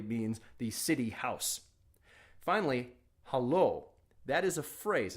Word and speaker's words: haloo: picking up a phone and beginning of conversation hallo you wouldn't say it you'd say hello okay and the only way to say hello